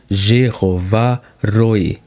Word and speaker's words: Jeová Rohi: Pronuncia-se Jeová Rohi.